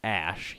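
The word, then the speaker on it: Æ: And then AE is pronounced like Ash, he added.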